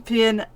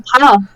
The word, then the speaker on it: Pin: Dorian Pin, Abby Pulling, Maya Vueg. No, it's Dorian Pa. Dorian Pa. Pa.